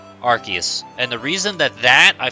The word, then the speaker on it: Arceus: Because his ability is based off of Arceus, so it's RKS system. I know I've heard people like debate it, but I feel like because of Silvalley existing now, it's the debate's over. Yeah, Arceus, that's another one I've heard.